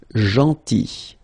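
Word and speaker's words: gentil: So remember this final L is not pronounced janti and it's nice or kind.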